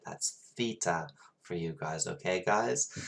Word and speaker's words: theta: we say as well that's me saying it with an english accent it is theta my lovelies you should say it right now say theta theta theta so that's the greek letter theta okay um if i say theta that's my accent not how you actually say it that's theta for you